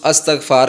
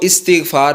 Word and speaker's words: استغفار: میں بتاؤں گا۔ دوستو، اکثر ہمارے لوگ اس کا تلفظ استغفار کرتے ہیں جو کہ غلط تلفظ ہے۔ یہ عربی زبان کا لفظ ہے اور اس کو استغفار پڑھنا ہے، اس کا یہ درست تلفظ ہے۔ اس کا معنی